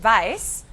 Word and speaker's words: weiß: Y aquí también la conjugación de la forma de yo, ich weiß. Weiß es la misma palabra, la misma pronunciación, se escribe igual que el color blanco, weiß.